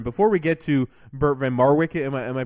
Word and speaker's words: van Marwijk: Dutch manager in before we get to Bert van Marwijk am I am i pronouncing that correctly yeah that's so is it